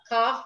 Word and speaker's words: calf: And in some places, the L is silent. Calf, yoke, calm, balm, right?